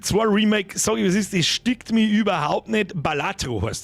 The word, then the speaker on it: Balatro: stickt mir überhaupt nicht balatro ja nicht baloro irgend balatro interessieren ja